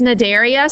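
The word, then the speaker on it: Cnidaria: um and then there's Nadia so that c is silent when you say it um and these are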